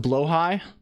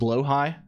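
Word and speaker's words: Blåhaj: Is this pronounced Blowhigh? Is that what people are telling me this? I've heard this now. This is called Blowhigh. Like is that bad?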